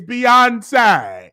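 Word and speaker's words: Beyoncé: So the staff will say, okay, this is how you pronounce Beyonce. It's Beyonce.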